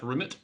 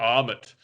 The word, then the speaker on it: RMIT: So I've gone to the RMIT in Melbourne, which is pronounced Rimmet. I used to call it Armit. no, like Rimmet.